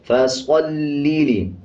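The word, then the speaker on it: فَصَلِّ: फसल्लि, स्वाद को पुर पढ़ेंगे यानी मोटा पढ़ेंगे।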